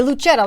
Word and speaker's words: Lucetta: Is it a soft C or a hard C? Lucetta. Because you would see like Lucetta. Okay, Lucetta, like kind of Italian-y.